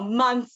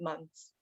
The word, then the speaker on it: months: sound like uh thistle so months though we don't really even pronounce the th sound it's sort of the vibrate one but it's more like months um there's going to